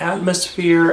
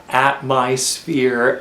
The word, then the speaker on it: Atmysphere: a bit unusually and there are some people that pronounce it atmosphere and there are some people that pronounce it at my spere and the latter just